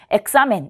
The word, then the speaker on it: examen: 자, 그리고 이 단어는 강세가 examen에 오겠죠. 그래서 examen 이렇게 발음하시면 되고요.